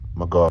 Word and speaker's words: McGaugh: know they look at is pronounced like is that magoff is that my goal how do you pronounce it well if you click on this little icon you can record it oh my god you don't say your name mcgowan right so he have a